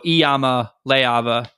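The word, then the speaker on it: Iamaleava: he's Hawaiian Polynesian minimum the i in the Hawaiian language is pronounced e um so eama leava uh by my math is how you say that if I'm wrong correct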